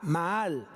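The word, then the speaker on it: מעל: Prevaricación viene del hebreo Maal con doble A y acento en la última A, Maal.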